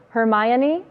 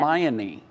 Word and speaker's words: Hermione: It is not pronounced how I said it. I will not say it again, but it is Hermione.